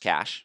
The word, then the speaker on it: cache: A cache, pronounced cache, is hardware or software that is used to store something, usually data, temporarily in a computing environment.